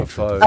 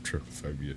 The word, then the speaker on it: trypophobia: Trypophobia.